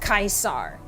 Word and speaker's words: Caesar: And I was like, actually it's pronounced Caesar.